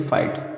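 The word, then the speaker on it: fight: Word के last में GH आएगा तो जी साइलेंट रहेगा। जैसे एग्जाम्पल, अब देखिए फाइट, फाइट में जैसे टी के पहले GH आया साइलेंट रहेगा।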